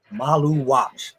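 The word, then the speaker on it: Maluach: He let me know how to pronounce it. Malu watch.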